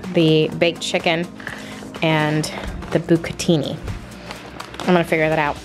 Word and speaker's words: bucatini: going I don't know how to say it pronounced something I said I said bucatini that's right that's right you could team something